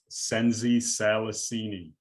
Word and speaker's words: Nsenzi Salasini: how do you say your last name sensei senzi salasini and i've read it i've read it like